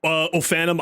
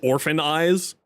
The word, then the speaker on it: Ofanim: just an ongoing joke like ofanim eyes I kept calling orphan eyes Colo I kept calling